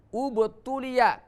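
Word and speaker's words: اُبْتُلِيَ: Asal kata ibtuliya maka menjadi ubtuliya karena huruf yang ketiga adalah dhammah, maka dibaca dhammah lagi.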